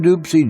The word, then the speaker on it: Dopsie: now your host Paul Edward Leslie spoke with a legendary Rockin dupsy Junior now dupsy's pronounced the band many of you know is Rockin doopsy Jr and the zydigo